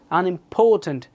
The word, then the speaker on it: unimportant: তারপর হচ্ছে unimportant. এটা third syllable হয়েছে।